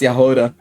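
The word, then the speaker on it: Jahoda: I was right, it's pronounced Yahora.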